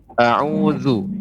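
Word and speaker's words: أعوذ: audzubillahiminasyaitonirojim Ya sebentar Ibu pengucapan huruf dza Za itu lidah ya tidak kita bertemu dengan gigi seri Za Za ya bukan bukan juga bukan a'udzu tapi a'udzu deh a'udzu bilang ibu a'udzu ya hai a'udzu Hai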